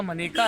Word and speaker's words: मनेका: पिछले 2 लोकसभा चुनाव से 2014 और 2019 से, बल्कि 2009 में भी आंवला से मनेका गांधी जीती थी। सही उच्चारण मनेका है, अक्सर लोग मेनका बोल देते हैं।